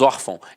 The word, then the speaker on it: órfão: de nasalização até porque se fosse um assento gráfico eu não falaria órfão eu falaria orfão e não é o caso nós falamos órfão então a sílaba tônica